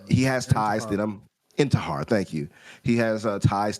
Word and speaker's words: Intihar: I forgot his last name, Intithar. So I forgot how to say it, but he has ties to them. Intihar, thank you.